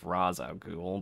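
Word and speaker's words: Ra's al Ghul: change of pace and ra reish al goo al ghul instead of raza google but whichever way you pronounce it i don't really care um dark knight had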